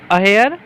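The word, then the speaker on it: adhere: अगला क्वेश्चन है everybody should अहेयर, डी यहाँ पे साइलेंट होता है, डैश हर प्रिंसिपल।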